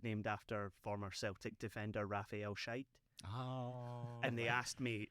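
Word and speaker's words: Scheidt: like, it was named after former Celtic defender Raphael Shite. Oh. And they asked me like how you pronounced it, and I told them, and they cut me off.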